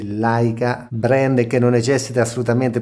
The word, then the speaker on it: Leica: leggere questa scritta all'interno dell'ottica Leica che tra l'altro si legge Laica Brand che non necessita